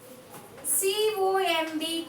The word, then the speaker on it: comb: C-O-M-B, comb. It's not a comb, children. It's not a comb. B is silent. C-O-M-B, comb. C-O-M-B, comb. Here the letter B is silent.